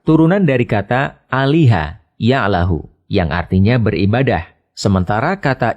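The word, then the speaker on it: الله: lam yang dites dites lalu lam yang kedua dibaca tebal sehingga dibaca Allah demikian pendapat ahli bahasa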